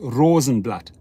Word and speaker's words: Rosenblat: is is is german in german it's pronounced rosenblatt it means the leaf